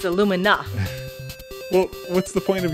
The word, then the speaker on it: Illumina: Well, it's pronounced Aluminum, but anyway. I don't see an M at the end. It's Illumina.